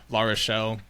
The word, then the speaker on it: Larochelle: I'm honored to be joined by a good brother and friend, Andrew Larochelle, which is, I think, that's the proper way to say it, right? He said it right, people.